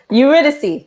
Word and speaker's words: Eurydice: It's a retelling of the Greek myth, Orpheus and Eurydice. How do you say that? Eurydice.